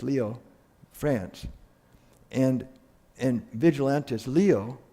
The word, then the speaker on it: Lyon: and and he's taken Peter Waldo came from Lyons it's pronounced lio France and in vigilantes leo that's his real